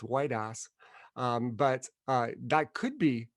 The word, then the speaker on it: Woitas: gave the pronunciation where it's not that quite pronounced between the two words uh and he just said white us and uh and todd said that's it he